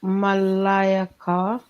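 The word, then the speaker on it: ملائكة: I just wanted people to go and research Malak takes a masculine, the plural Malayaka. That's how you pronounce it, guys.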